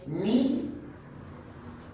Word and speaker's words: knee: Okay, silent K, no se pronuncia acá. No. No is de saber, okay? No, de saber, okay? Ni, de rodilla, ni, okay?